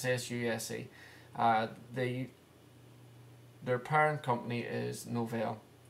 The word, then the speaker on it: SUSE: That's the latest SUSE distributions, and you can pronounce that SUSE how you like. It's SUSE.